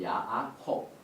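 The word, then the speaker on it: יעקב: 그다음에 누가 했냐면 여기에 야아콥 이렇게 발음합니다.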